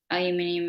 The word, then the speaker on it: aluminium: i don't use the kind that has the aluminium or aluminum or however you want to pronounce it in it because that essentially just